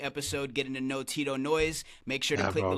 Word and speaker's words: Knoise: Yeah, it's Tito Knoise, and some people say Tito Knoise, like a knife, the K is silent.